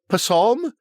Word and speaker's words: Psalm: Psalm? P-psalm? I think the P is silent.